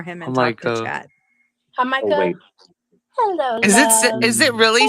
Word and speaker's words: Jamaica: Hamaka. Hello. Is it really said like that? Like because I was like full on feeling stupid because I thought she was just not pronouncing Jamaica correctly. Hamaka, okay.